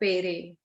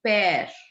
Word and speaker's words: père: more mere and more pere. Please make this thing very clear in your mind that there is no accent on the second E of mare and pair. Okay? So it's mare and pair.